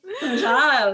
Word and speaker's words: Azhelle: Will you say my name? Azhelle. Because that's the way that's the way we would say it.